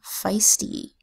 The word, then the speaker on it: feisty: letter phonogram e i the e i phonogram makes three long vowel sounds it makes the long a sound a as in Vale the long e sound e as in seas and the long I sound i as in feisty so I can say